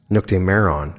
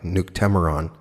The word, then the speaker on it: Nuctemeron: and discuss the temeron which is pronounced in different ways when you listen to how they pronounce it it's noctemeron which i don't like i like nuke temeron in any case there